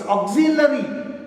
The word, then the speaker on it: auxiliary: It's auxiliary. Pronounce auxiliary one more time.